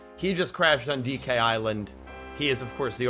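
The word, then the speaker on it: DK Isle: I did not learn until I was about 10 that you pronounce it island. I thought it was Donkey Kong Island. I mean, how would a 5-year-old know that the S is silent?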